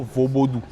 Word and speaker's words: vodoun: Donc la bonne prononciation dans la langue locale font c'est plutôt vosodou.